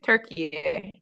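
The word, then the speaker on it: Türkiye: chance qualifier turkey turkey wow it's actually not turkey anymore it's it's turkey and it's that it's pronounced that way for for the world now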